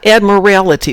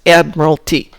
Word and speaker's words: admiralty: second ad merle t admiralty not admirality there's not an extra syllable in there it's admiralty i know everybody says